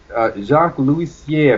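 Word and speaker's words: Jacques Loussier: Jacques Louisier, I believe is how his name is pronounced.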